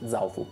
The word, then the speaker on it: Zaofu: Zaofu. Zaofu. Accento tonico sulla A.